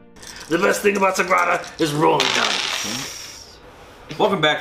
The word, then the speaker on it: Sagrada: So today we have Sagrado. Sagrada. Sagrada. I never knew how to pronounce this until Charlie looked up the correct.